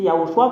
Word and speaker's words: Yahushua: Voilà la raison pour laquelle l'ambassadeur de Yahushua Ziadia a dit, c'est Yahushua qu'on le prononce, même les Hébreux savent très bien comment l'écrire.